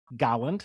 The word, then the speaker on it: Galland: Leo Galland, if I'm pronouncing it correctly. Galland, thank you. Dr. Everybody Leo Galland. says that. We always want to make it fancier than it is.